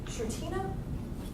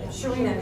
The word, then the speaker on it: Sharina: The young lady, is it Shartina? Saying it wrong. She did the branding. Sharina, she's not here.